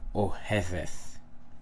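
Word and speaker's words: אוהבת: Okay, so you have ohev and oheveth. Ohev, oheveth. Modern Hebrew, the pronunciation is ohevet.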